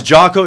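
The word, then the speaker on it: Jia: said that already yeah it's Joo it's it's spelled uh j i a and I think it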